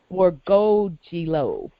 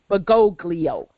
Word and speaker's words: Bergoglio: The next name after Leviathan is Borgogilo. That's Pope Pimpalicious' real name, George Mario Bergoglio. But she pronounced it a different way.